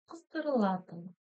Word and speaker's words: қыздырылатын: Очень коротко читается, твердо и коротко, да? Все, ничего сложного. Ну и ударение, соответственно, вот сюда ставится.